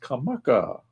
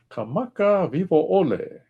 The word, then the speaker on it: Kamakawiwo'ole: name is Israel, and let me pronounce his last name, cuz it's not easy. It is Kamakawiwo'ole. Vi vo'ole. Kamakawiwo'ole.